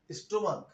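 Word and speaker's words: stomach: অর্থাৎ যখন নাকি এই সিএইচ এর উচ্চারণটা ক এর মতো হবে তখন শুধুমাত্র এস যোগ হবে, আর যখন এটা চ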